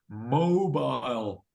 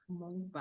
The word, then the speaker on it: mobile: yeah what make is your mobile notice the pronunciation of mobile it's o o you've got to say o with your o mobile mobile repeat mobile M M mobile uhuh good it's an apple